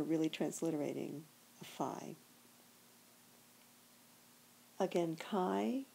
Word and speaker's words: chi: Again, chi is the common pronunciation, but you might hear somebody say ki.